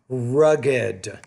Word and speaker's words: rugged: word luggage and then rugged it's actually two syllables not one rugged okay the difficulty here